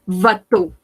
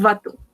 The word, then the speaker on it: bateau: Esto se va a pronunciar como una O, ¿oui? Ahí, como una O. Un bateau, un bateau.